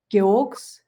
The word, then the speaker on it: Gewog: Geogs. Geogs. So Yeah. it's spelled Gewogs. It's like a crazy spelling, but it's pronounced Geog.